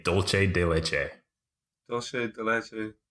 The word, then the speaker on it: dulce: people who say dulce de leche. Dulce de leche. Yeah. How should you say it? It's spelled and pronounced dulce. Oh, yeah. Because it's a Latin American treat. It's not Italian.